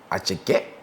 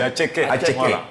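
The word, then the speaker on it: attiéké: Déjà on va prendre notre atcheke, voilà la marque ivoirienne. Là, tu as bien prononcé, la bonne prononciation. Ah oui, c'est atcheke.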